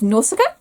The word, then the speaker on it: Nausicaa: Her name is Nausicaa, which obviously I know how to pronounce because of the Ghibli film.